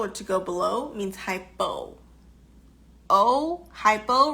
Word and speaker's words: hypo: The opposite of that, which means too little or to go below, means hypo. Hypo rhymes with low, correct? Hypo rhymes with low, and hypo rhymes with slow.